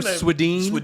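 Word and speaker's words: Swedien: my favorite bruce bruce and i used to pronounce her ice cream sweden from sweden so what is it it's really sweden sweden the god the goat uh god rest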